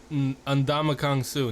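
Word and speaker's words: Ndamukong Suh: Ndamakong Su.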